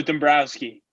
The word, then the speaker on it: Dombroski: Yeah, so Dombroski. So kind of like the Phillies GM, right?